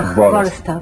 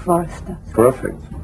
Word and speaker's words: Hvorostovsky: You should really start pronounce V, Hvorostovsky, so V sound should be pretty hard. So Hvorostovsky. That's right. Hvorostovsky.